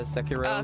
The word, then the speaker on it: Sekiro: No, that's how you pronounce it. Yeah, Sekiro, Okay, Sekiro.